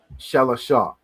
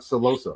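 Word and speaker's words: שלושה: Shalasha. That's how you say 3, right? They have celosa. It sounds Spanish. That's right? crazy. It's shalasha, not celosa, right?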